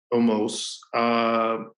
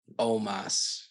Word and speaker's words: Omos: Almost. Strowman is. Who? Yeah, I know. I'm gonna say Omos. I'm gonna go Omos. That's his name. Why do I keep saying almost?